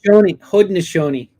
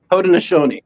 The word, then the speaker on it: Haudenosaunee: Haudenosaunee. Haudenosaunee, yeah.